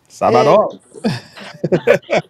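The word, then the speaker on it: sábado: Sabadon. Right. And he said, Sabado. Sabado. Okay. Right. Mm-hmm. So the emphasis on the first syllable.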